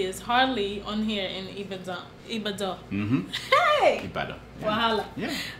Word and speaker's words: Ibadan: is it Ibadan? It's Ibadan. Forget about how it's spelled.